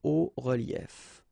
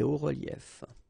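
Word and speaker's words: hauts-reliefs: then it's quite simple, because S and S, but then we don't pronounce them here. Des hauts reliefs. Okay, un haut relief, des hauts reliefs.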